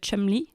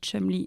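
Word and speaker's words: Cholmondeley: qui s'appelle rose et elle est marquise de chumly et ça s'écrit Chol Mel et ça fait les chou gras de tous les le show américains depuis 3 semaines parce que ça s'écrit Chol m la et ça se dit chumly et ils disent mais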